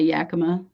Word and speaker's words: Yakima: Or Yakima. I've heard it both ways. The locals say Yakima, but yeah, Yakima.